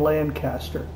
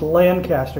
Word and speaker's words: Lancaster: The town we're about to fly over is Clinton and Lancaster. And unlike in Pennsylvania, it's pronounced Lancaster here, not Lancaster.